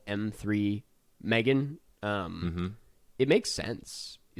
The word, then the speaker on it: M3GAN: uh Megan Megan yeah it's definitely pronounced Megan I wanna this is